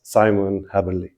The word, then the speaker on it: Simon Haberle: And we have with us Simon Haberle. Did I pronounce it right?